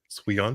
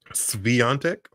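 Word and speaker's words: Świątek: saying her name incorrectly santic yeah yeah because you have to pronounce the W like a V santic yes okay that's it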